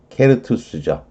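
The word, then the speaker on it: certus: 이게 라틴어로 라틴어로는 케르투스죠. 근데 뭐, 영어 발음으로는, 이렇게 됐겠지만, 불어로 갔다가, 어쨌거나 불어로 와서, 의 발음이 됐지만, 라틴어로는, 케르투스.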